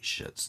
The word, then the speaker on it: Schiit: l-y-r headphone amplifier and yes i did say shits now that is spelled s-c-h-i-i-t they're a usa made